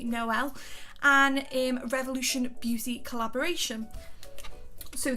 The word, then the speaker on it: Noel: of the Emily Noel sorry I think that's how I pronounce name I've been calling Emily Knoll so apologies Emily I believe it's Emily Noel and revolution beauty collaboration